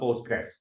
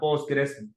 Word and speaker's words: Postgres: So PostgreSQL, and usually it's called Postgres. So and sometimes people call it it's a PostgreSQL.